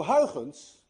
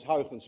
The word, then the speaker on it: Huygens: Huygens, by the way, is difficult to pronounce. Anyone of you who knows how to say Huygens correctly is also Dutch, because you miss the ui in your language and you miss the ch in your language.